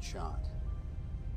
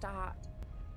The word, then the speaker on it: Tahat: at the base amount that chot no T tahat it's pronounced tahat it's a chot it's a it's isn't it a cha no no no there's no se it's tahat it's it's it's just Mount tahad okay okay now I